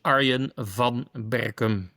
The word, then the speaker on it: Arjen van Berkum: Properly pronunciation is Arian von Beckham.